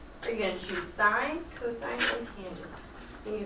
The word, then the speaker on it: sine: So everyone writes sine. It looks like it's spelled sin, but it's not sin, it's sine.